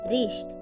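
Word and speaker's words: wrist: किसी वर्ड के शुरुआत में अगर डब्लू के बाद आर आता है तो डब्लू का उच्चारण नहीं किया जाता।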